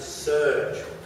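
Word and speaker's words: SERG: moore next up is the sustainable energy resource group pronounced surge surge pioneered the concept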